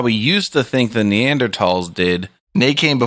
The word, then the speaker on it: Neanderthal: I always thought Neanderthal had an H in it. It does, so that's what's pronounced Neanderthal. It's tahal, but you just say tall. Like Thomas. Hmm.